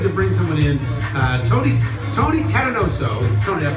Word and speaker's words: Catanoso: Tony Catanoso. Tony, did I pronounce that right?